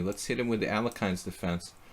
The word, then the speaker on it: Alekhine: Let's hit him with the Alekhine's defense. Or Alyokhin. Alyokhin, if you want to say it correctly or relatively correctly.